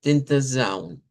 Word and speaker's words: Tentação: Si le toca portugués, pues lo dice como Tentazaun.